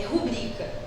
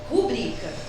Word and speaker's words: rubrica: daqui é importante gente a forma correta de pronunciar essa palavra de acordo com a norma padrão é rubrica rubrica então isso daqui ó não